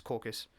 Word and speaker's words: corpse: Is it pronounced corpus or caucus? It's not caucus, it's corpus.